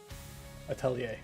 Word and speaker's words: Atelier: So let's go Atelier pronunciation. Let's see. Yeah. We get a dictionary. Let's see. Atelier.